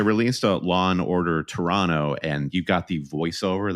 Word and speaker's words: Toronto: Toronto Canada yeah but you have to pronounce it Toronto that's what I'm learning if you pronounce the extra t uh somebody here in